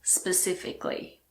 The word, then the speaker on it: specifically: Most of the time we do pronounce the letter A, but if a word ends in I-C-A-L-L-Y, most people don't pronounce it.